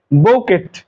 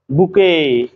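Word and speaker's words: bouquet: বৌকেট বি ও ইউ কিউ ইউ ই টি বৌকেট আসলে বোকেট না আমরা যে কোন অতিথি আসলে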